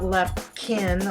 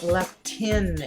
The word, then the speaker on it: leptin: address is leptin levels no not lepin leptin it is spelled with a p it is a hormone